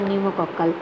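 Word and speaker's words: pneumococcal: তারপর নিউমোকক্কাল vaccine, নিউমোকক্কাল, আমি পি দিয়ে স্টার্ট করেছি বানানটা, পিটা কিন্তু সাইলেন্ট ফর নিউমোকক্কাল।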